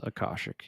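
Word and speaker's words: Akashic: Is that how you pronounce it? Yes. Akosic.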